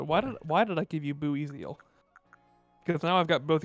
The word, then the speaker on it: Buizel: That's kind of how I pronounced it as a kid, I think. Boy. Boizel.